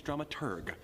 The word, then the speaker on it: dramaturg: The correct pronunciation is dramaturg, the researcher of the plays and operas being put on.